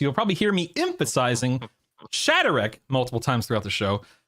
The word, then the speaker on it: Shadarek: We also have uh Shatterk, who I was mispronouncing his name until about two minutes ago, so you'll probably hear me emphasizing Shatterk multiple times throughout the show.